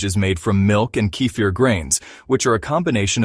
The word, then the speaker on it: kefir: Kefir is a fermented milk drink it is pronounced Keir cfir is made by adding kefir grains to